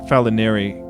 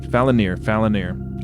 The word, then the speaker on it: Falinir: I pronounce it Falinari, just out of habit from looking at that word. But Falinir. I'll try to get that through my brain.